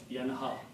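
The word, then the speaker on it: ينهى: And we just learned from the word yatgha that yaf'alu, this will have a dhamma but will come pronounced as in small alif. Yanha.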